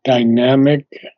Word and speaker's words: dynamic: Essence I believe that Dynamic is uh the accent is on the second syllable dynamic Dynamic okay Dynamic Dynam